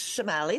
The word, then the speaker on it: Chemaly: Yes, it's Shamali like an S, but don't worry. Shamali.